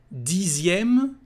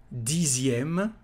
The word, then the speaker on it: dixième: Dixième, again here the letter X is said like a Z. Dixième, dixième livre, dixième année, dixième euro.